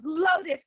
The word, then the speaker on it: Lotus: pronounce your name yes it's lotus like the flower oh i've been saying